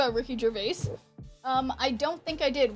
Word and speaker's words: Gervais: We are looking at how to pronounce this name as well as Ricky Gervais. Ricky Gervais. Ricky Gervais!